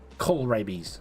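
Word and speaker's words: kohlrabi: I say store coral Coral is that pronounced Coral k-o-h-l rabies coal rabies uh I think it's past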